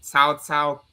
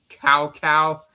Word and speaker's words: Cao Cao: I guess it's just due to the weird pronunciations and whatnot, literally calling Cao Cao Cow Cow.